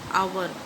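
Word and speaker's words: hour: He came dash आवर, बोलेंगे इसको आवर, बट यहाँ पर एच है इसलिए साइलेंट हो गया, इसलिए यहाँ पर एन आवर लेट।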